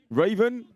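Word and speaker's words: Ravn: But he's phonetically put an E before the N for me. Tobias Raven. It's a silent E.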